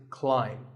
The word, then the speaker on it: climb: see on the screen the a i is an i sound not an a sound so the word is climb by the way what's